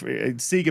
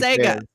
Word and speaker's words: Sega: pronunciation Sega is crazy SE is crazy SE e it's not sa you guys are like Sega it's like you don't you don't Sega it's s e GGA literally says Sega SE in Australia it